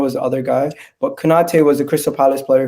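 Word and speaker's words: Kouyaté: I forget how to pronounce his name. Let me just. Kouyate.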